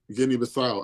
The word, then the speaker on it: Guinea-Bissau: Guinea-Bissau, is that how you pronounce it? Yeah. Guinea-Bissau.